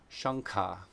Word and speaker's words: śaṅkha: If anuswara comes before a guttural sound, then it turns into the ng sound, the nasal in the back of the throat. And that just makes sense, right? Look at the first example there. The conch shell in Sanskrit is called shankha.